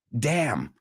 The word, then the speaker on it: damn: La N no se pronuncia. So, es como si no estuviera ahí.